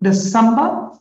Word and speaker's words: December: December. Good girl. And this is the sound curve. You see, the second syllable is the prominent one, meaning it is pronounced loudly.